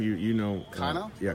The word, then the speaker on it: Cano: pronounce his name? You know. Cano? Yeah, Cano.